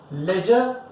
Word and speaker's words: ledger: Ledger is a part of secondary book. Laser का spelling होता है LEDGR, ठीक है, याद रखना. D again is silent type only.